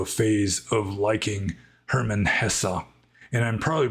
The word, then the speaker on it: Hesse: phase of liking Herman Hesse. And I'm probably pronouncing his second name more correctly than his first name. I don't know the German pronunciation. I do know that E at the end is pronounced.